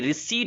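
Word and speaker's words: receipt: Okay, my case, रिसीट पढ़ेंगे, इसका उच्चारण होता है RECIPT, सुन लेना भाई, रिसीट होता है।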